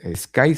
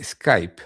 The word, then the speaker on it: Sky: maravillosa donde se puede Sky, se dice Skype, no, no, no, no es Skype. Sky, SK Y, no Skype. Perdón, mi pronunciación seguramente causó alguna confusión.